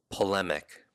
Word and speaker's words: polemic: what to argue polemic what does this sound like if you're breaking down his syllables what would sound similar to it exactly but something similar that would remind you because your true memory knows the difference pole lemak so maybe a pole